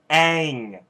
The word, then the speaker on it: Aang: my gosh first off its Aang and not all seriously really good hey